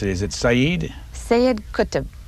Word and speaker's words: Sayyid Qutb: The third one on the list, help me pronounce it, is it Sayyid? Sayyid Qutb. Sayyid Qutb.